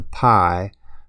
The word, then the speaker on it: Pi: changed her name to Pi pronounced as the Greek letter Pi after we ended our